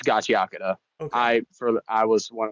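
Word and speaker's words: Gachiakuta: some people go at the uh the pronunciation. Is it gachakura or is it gacha? It's gachakura. I for I was one of the people who was saying gotchauda for the longest time until until I I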